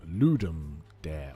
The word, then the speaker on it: Ludum Dare: i'm gonna mispronounce this i call it ladam dare but i think it's called the ludum ludum dare or ludum dari or what i don't know i don't care it's ladamda lud oh how do you pronounce i don't even know how you spell it l-u-d-u-m ludum ludem ludem l-u-d-e-m ludem dare uh bernstein says are you